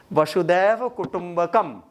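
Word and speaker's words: वसुधैव कुटुम्बकम्: तो जैसे अब जैसे था वसुदैव कुटुंबकम, नहीं कुटुंबकम कुछ भी है, तो वो कभी कभार होता है कि प्रोनाउंसिएशन फंस जाता है। वसुदैव कुटुंबकम सही पकड़े।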